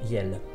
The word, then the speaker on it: iel: Je vais écouter la prononciation sur le petit Robert. Yel.